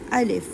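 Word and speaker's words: ألف: अलिफ अलिफ आपने इस बात का ध्यान रखना है कि इसको हमने स्ट्रेच नहीं करना। बहुत से लोग ऐसे पढ़ते हैं अलीिफ अलीफ ऐसे नहीं पढ़ना। ये रॉन्ग हो जाएगा।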